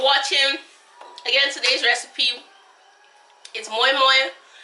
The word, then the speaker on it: Moi Moi: Again, today's recipe is moi moi. Some people pronounce it mai mai, moi moi, bean cake, but it turned out perfectly.